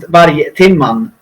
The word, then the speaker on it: Vargtimman: How you pronounce It's pronounced Vargtimman.